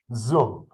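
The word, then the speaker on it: Duong: is by the way zum uh the d-u-o-n-g is u-o-n-g yes okay right and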